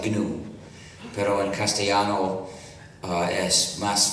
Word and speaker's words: GNU: El nombre New se escribe GNU y en inglés se pronuncia GNU, pero en castellano es más fácil pronunciarlo New.